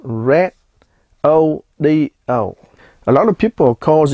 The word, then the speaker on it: Redodo: to be reviewing the red AIO yes it's pronounced Red O A lot of people calls it rodo it is a 12vt lithium iron phosphate 100